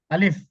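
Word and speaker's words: ألف: এটাতে টান হবে না আলিফ আলিফ আলিফ শেষে বাতাস বের করেন আলিফ দেখেন আমার মুখের দিকে আলিফ আলিফ আলিফ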